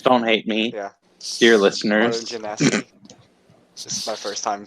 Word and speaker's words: Genasi: Because I think I've butchered. Midori? Okay. Yeah, My character's name is Midori. He is a Water Gensai Warlock. Huh? Yeah, it's Genasi.